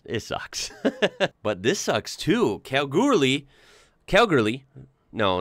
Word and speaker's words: Kalgoorlie: Kalgoorlie. No, not Calgary, Canada. Come on now. Kalgoorlie.